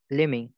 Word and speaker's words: let me: লেমিং, ইয়া লেমি, এখানে একটু ব্যাপার আছে উচ্চারণের ক্ষেত্রে, লেট মি যখন থাকে তখন হয়ে যায় লেমি, এটা লেট মি আছে এটা এরকম লেমি হয়ে যাবে লেমি।